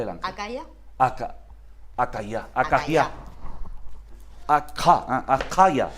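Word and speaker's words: אכא: Acaya sería la pronunciación. Porque la letra Kaf.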